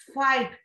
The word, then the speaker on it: fight: fight, it is GH.